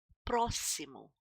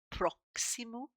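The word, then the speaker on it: próximo: Ailar proimo proimo. A lot of people think that this is pronounced proximo but it isn't. It's proim. This is sounding like a double s here.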